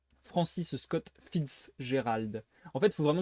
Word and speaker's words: Fitzgerald: Francis Scott Fitzgerald. En fait, il faut vraiment que je dise Fitzgerald. Faut que je sépare le Fitz et le Gérald.